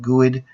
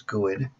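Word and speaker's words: GUID: graphical user ID guy I call it gooood I've heard people pronounce in different ways anyways that's the way I say it so and then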